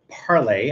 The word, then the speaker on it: Parle: this is is from Parlay I believe it's parlay maybe it's it's parl I I'm not sure exactly how it's pronounced this is uh I'm gonna call it parlay parlay patina uh platina